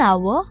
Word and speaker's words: hour: Yes, we also say an hour and an honest man. But why? Because even though these words begin with a consonant, the letter H is silent.